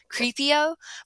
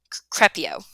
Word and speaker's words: Crepio: I'm sure I wanted it to pronounce Creepio, but I only did one E and then two E's and then an O, so it's Crepio.